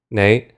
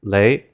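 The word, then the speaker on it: 你: This is the word for the pronoun "you". Nei. However, what you might actually hear from people speaking colloquially, especially those in Hong Kong, is lei. So, what happened there was the N sound was replaced with an L sound.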